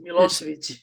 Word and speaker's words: Milosevic: And she's Milosevic. there we go. I see, I couldn't pronounce it like that.